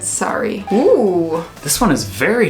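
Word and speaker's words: Surrey: suri suri suri suri sorry sorry sorry so it is a little bit different we said suri but she said sorry oh this one is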